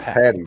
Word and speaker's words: Paddy: do you say patty like is as in p-a-t-t-y or p-a-d-d-y well when i say it out loud it's saint patty's day i say with a d yeah but to the